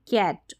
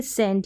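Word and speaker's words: cent: क के रूप में कैट और यहां पर है सी का उच्चारण यहां पर कैंट ऐसे नहीं बोलेंगे सेंट यानी सी का उच्चारण स है तो यहां पर सिर्फ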